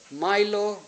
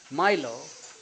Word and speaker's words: Milo: One of his proteges was Milo Shattuck, a Harvard graduate and a young poet. Watson helped finance his trip to England to study, and while there, Milo, or how do you pronounce it, Milo, M-I-L-O, Milo.